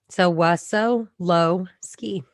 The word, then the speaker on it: Wessolowski: name right right um but phonetically so was so low ski is that polish it sure is very good yeah so we have sylvia wessolowski and your your married